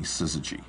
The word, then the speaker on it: Syzygy: We originally named the company Syzygy. S-Y-Z-Y-G-Y. Syzygy, Syzygy, Syzygy. No one could pronounce it.